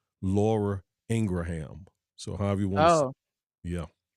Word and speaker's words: Laura Ingraham: say her her the pronunciation of her correct name is really Laura Ingraham so however you want